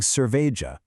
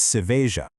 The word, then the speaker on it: cerveja: So you're not saying cerveja, it's seveja. Oh, and one final technical reminder from our source material on this word, don't forget the stress rule. The emphasis is squarely on that second syllable, ve. You say seveja, keeping those first and third syllables much lighter.